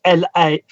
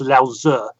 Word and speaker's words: Lao Tzu: Well, in Taoism, there was actually a book by a lot of people would see the name as Lao Tzu's, Laotze, but it's actually pronounced Lao Tzu.